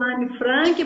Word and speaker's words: Anne Frank: E você, como historiadora, eu pensei agora aqui no Diário de Anne Frank, né? Sim, Eu sim. falo Anne Frank porque ela nasceu na Alemanha e a pronúncia é assim, tá?